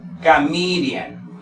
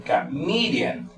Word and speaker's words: comedian: En este caso, por ejemplo, tenemos una de 4 sílabas y la pronunciación aquí sería comedian, comedian. Entonces, la mayor fuerza de voz está aquí, el comedian, comedian.